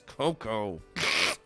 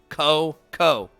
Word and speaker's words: Coco: not disappoint me Beast it's not Beast it's Coco Coco two syllables it's not that hard you Meathead forget about